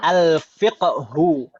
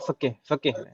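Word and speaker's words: الفقه: Kalau bahasa Arab itu sebenarnya al-fiqhu. Al-fiqhu. Jadi qafnya itu sebenarnya sukun, Ibu-ibu sekalian.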